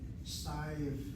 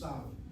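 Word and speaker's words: סתיו: Should it not be pronounced as Stiv? It can be, but I think everybody says Stav. Even though it's written with a Yud, it gives a diphthong sound to that Kamatz. It's not Stiv, it's Stav.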